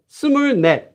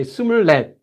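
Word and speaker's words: 스물넷: Do you say sumurnet? Koreans, no. Koreans will say it more smoothly and easier than that. They won't say sumurnet. They won't pause. They'll say sumurlet, which sounds just like sumurlet.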